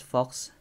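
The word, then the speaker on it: falx: So later we'll talk about the hemispheres, and that's the thing, that the fox, pronounced as fox, I forgot the one placed on our textbook.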